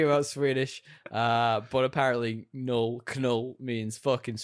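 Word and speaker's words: Knull: true trivia false DL the name canull or null I'm saying null that's it's spelled canull actually means [ __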